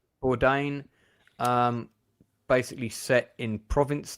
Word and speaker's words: Bourdain: Uh, yeah, you pronounce the surname Bourdain. Bourdain.